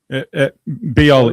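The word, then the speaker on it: Bijol: Was that Bigol? Biol, it's pronounced.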